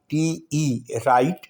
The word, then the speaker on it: write: राइट की spelling है WRITE, राइट, और यहाँ भी W साइलेंट होगा. लिखा जाएगा लेकिन बोला नहीं जाएगा.